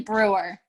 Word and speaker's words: Breuer: It's actually Breuer. Breuer. I feel like I alternate between Breuer and Breuer.